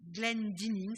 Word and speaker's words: Glendinning: Ici, c'est une sculpture d'une jeune sculptrice qui s'appelle Lucy Glendinning, ça s'écrit G-L-E-N-D-I-2-N-I-N-G, Glendinning, et c'est un Feather Child, donc un enfant avec des plumes.